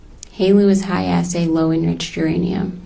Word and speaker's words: helu: Halo. Halo. What is in your line of work? What is Halu? Halo is high assay, lowenriched uranium.